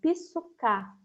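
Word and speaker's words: ψυχή: Mas existem outros momentos em que aparece ainda uma segunda palavra, também no grego, que é a palavra que no grego se pronunciaria psuká.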